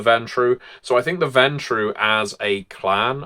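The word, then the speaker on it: Ventrue: so I think the ventu as a clan I've heard them pronounce vontu as well sometimes uh are just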